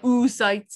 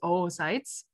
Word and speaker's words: oocytes: It's not oocytes, it's oocytes. Yeah, seriously, guys. Okay, so the process of generating oocytes is oogenesis, right? So spermatogenesis, generating sperm, oogenesis, generating oocytes.